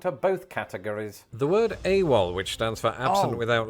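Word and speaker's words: AWOL: both categories the word awal which stands for absent without leave was initially pronounced a w l it was oh is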